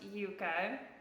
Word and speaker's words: Yuka: up with in France that's pronounced Yuka yes so it's y-u-k-a yes and I might